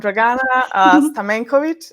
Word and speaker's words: Dragana Stamencovic: Uh, but yeah, before I go into that, I'm Draana Stamenovich.